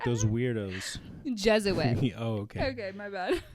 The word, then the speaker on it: Jesuit: to perform an ex you just say juw suit Su yeah is that how you know pronounce it like a Jew suit like you're saying a Jewish person in a suit suit is it jits J say Jesuit yeah Jes you're trying to